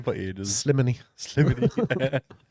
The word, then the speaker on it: Slimani: Slimany. Slimany. I still can't remember whether it's Slimany, Slimani, or Slimani. Slimani. There you are.